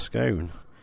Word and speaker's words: scone: And is it pronounced scone or is it pronounced scoon? I've always pronounced it scoon, but uh logic could have either way because uh you say cone, but you say gone, so o n e could be either, I suppose.